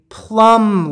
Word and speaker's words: plumb: this is called a plumb line it's kind of like a plum that you eat but you spell it differently put a b on the end p-l-o-p-l-u-m-b plumb line what